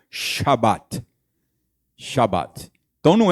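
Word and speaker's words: שבת: que pronunciaria mais ou menos como Shabat.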